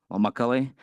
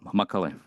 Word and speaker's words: Macaly: So the most important thing is how to pronounce it. It's we like it's in Czech. Like we worked hard. So Macaulay, and with Y at the end. So it's like women. So women worked hard. So Macaulay.